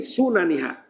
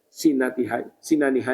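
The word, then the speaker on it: سننها: Nah, salah pulang bacanya dari sinaniha aja. Kalau sinaniha itu gigi-giginya artinya sunaniha. Nah, barisnya sunnahnya. Punya sinaniha tuh gigi-giginya, apa ya kisahnya gigi? Ya, kalau bahasa Arab kan beda baris beda arti ya kalau.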